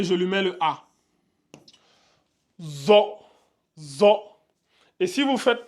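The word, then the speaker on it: ظاء: différence entre les deux lui c'est c'est le zo donc attention à ne pas les confondre les deux ils sont très différents si vous lisez ça za et lui za c'est faux il faut qu'il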